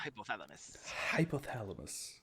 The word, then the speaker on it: hypothalamus: It's the hypothalamus.